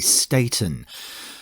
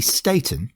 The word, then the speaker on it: Staton: Today's song, Young Hearts Run Free, CANDI, STATON.